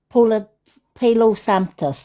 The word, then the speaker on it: Palo Santo: Santos, the wood, this Santos, I can never pronounce it. Palo Santos, that's it.